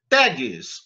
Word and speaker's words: tag: da maria e pronto tags os comandos html então os comandos que são feitos em html são genericamente chamados gtag t a g será tagmas da gente lê tag porque a pronúncia em inglês né milena e salve